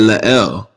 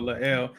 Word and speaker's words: La'el: that asked him, and he said La'el. So yeah, I want to say his name right. So La'el, similar to that kind of deal, I think is what you're looking at.